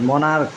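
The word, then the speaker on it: monarch: যেমন এখানে কিছু উদাহরণ, মনার্ক, এর উচ্চারণ কিন্তু ক, এই দুইটা মিলে উচ্চারণ হয়েছে ক, চ হয় নাই কিন্তু।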